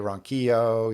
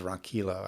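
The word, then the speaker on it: Ronquillo: are always great rj ronchio you know who's a i think he pronounces ron kilo actually but i mean you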